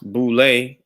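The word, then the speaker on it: Boulé: acronym for sy for Sigma Pi Phi and pronounced boule was formed to bring together a select group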